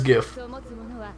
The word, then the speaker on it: GIF: gif to people and yes i pronounced the gif not jeff because that's stupid the guy who invented the term says gif so all your gifts does